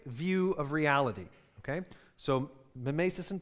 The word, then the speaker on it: mimesis: And that's, we're going to talk about, if you're curious about the pronunciation, we're going to talk about mimesis and poiesis, okay?